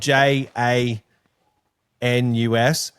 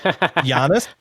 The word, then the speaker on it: Janus: It's It's spelled J A N U S. Uh, so it's actually pronounced Jiannis, but we just as a family, we all call it Janus.